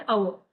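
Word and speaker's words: hour: Before the silent H, ठीक है? अगर साइलेंट है एच, एंड ऑनेस्ट मैन ओ का साउंड दे रहा है जो कि वोवेल है, एंड अवर, and honourable person, अगर साइलेंट है कॉन्सोनेंट, तब भी हम एन लगाएंगे, ठीक है?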